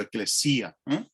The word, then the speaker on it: ecclesia: Y en griego, curiosamente, se pronuncia igual que en latín. Lo único que la tilde la llevan a otro sitio, eclesia. Los latinos lo decían ecclesia y los griegos lo llamaban eclesia.